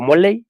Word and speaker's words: Molay: Y pues yo soy Molay, o Moley, también se pronuncia Moley.